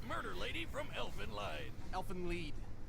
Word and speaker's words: Elfen Lied: Elfen Lied. It's German. Oh. Yeah, whatever. So that's how you pronounce it.